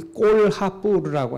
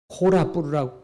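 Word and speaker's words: Kolhapur: 그러니까 불교 석굴이 있는 지역들이 다 마하라슈트라인데 대부분 거기 꼴하뿌르라고 하는 적이 있어요. 전시 도록에는 콜라뿌르라고 콜라뿌르 그 H자를 안 썼던데 인도는 이 H자를 꼭 발음을 해야 됩니다.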